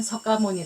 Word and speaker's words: 석가모니: 또 음한게 모니에 그래서 석가모니는 우리식 발음 샤카 무니는 그쪽 발음 예 고따마 부다는 불자의